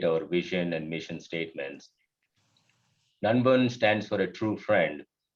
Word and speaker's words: nanban: movement so nun has it is pronounced as n-u-n-b-u-n even though it's written as n-a-n-b-a-n none one and uh